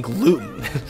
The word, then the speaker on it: gluten: And they'd be like, you mean gluten. And every single time I would forget and I would always still call it glutton. I would always, for some reason, think glutton was the right pronunciation.